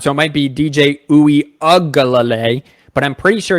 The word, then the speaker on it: Uiagalelei: Uiagalelei. Uiagalelei. Yeah. There's a couple L's in there that throw. Yeah, it's the lele, and I think it's the ung sound, but it might be the ug sound.